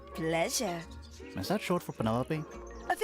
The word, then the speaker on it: Penelope: Is that short for Penelope? Officially, yes. But I never can be bothered with all four syllables of it. Penelope sounds a little ostentatious coming out of the mouth, don't you think?